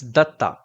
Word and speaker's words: Datta: Is it data or data? Definitely not both. It's Datta. Datta.